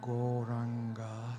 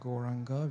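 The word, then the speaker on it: Gauranga: to add the Mantra goranga to our practice turning it into a koranga breath meditation just a little bit about goranga Mantra it's got four syllables go ra on God this wonderful yoga sound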